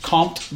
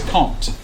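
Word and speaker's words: Comte: uh caught is yeah I thought it was compt but apparently the m is silent so it's quote as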